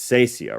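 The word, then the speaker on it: cassia: with myrrh, aloes, and it's Sacia, right? Sacia? It's not a hard C. I think it's Sacia, but I'm not the guy to ask.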